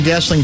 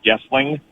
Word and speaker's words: Goessling: just as an FYI, my last name is pronounced, and I put it Goessling like with a U instead of an O so that it looks phonetically like Goessling. So usually people say Goessling.